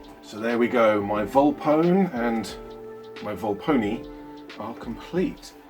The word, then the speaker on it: Volpone: So there we go, my Volpone and my Volpone are complete. And I have just been informed while recording this video that in the audiobooks, Volpone is pronounced Volpone-e, so that's where it comes from.